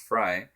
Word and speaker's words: Frey: fry not frey uh it's spelled f-r-e-y but it's pronounced fry uh he gave me